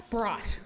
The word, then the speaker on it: BHRIGHT: Am I pronouncing that right? It's BHRIGHT.